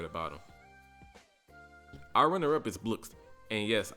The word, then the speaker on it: Blxst: Our runner-up is Blxst. And yes, I know it's pronounced Blxst, but I like saying Blxst.